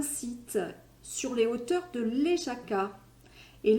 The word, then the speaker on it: Lesaka: Et aujourd'hui, je vous emmène sur les hauteurs à Aguigna, qui est un site sur les hauteurs de Léjaka. Et Léjaka, qui s'écrit L-E-S-A-K-A, se trouve dans la province basque de Navarre.